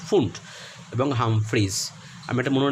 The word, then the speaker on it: Pfund: পি দিয়ে শুরু কিন্তু বানানটা PFUND হলেও উচ্চারণ হবে ফুন্ট, এবং হামফ্রিজ।